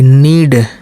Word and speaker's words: knead: KNEAD, नीड, के नहीं लिए, सिर्फ यन से लिए।